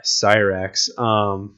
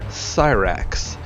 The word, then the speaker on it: Cyrax: Let's go ahead and fight fire with fire and pick Cyrax. For whatever reason, Cyrax's name is pronounced with the lisp there, and I kind of like it.